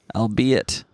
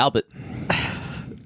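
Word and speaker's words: albeit: t t is it I'll be it um I always read that as yeah Albert like a weird way to spell Albert oh like a drunkard's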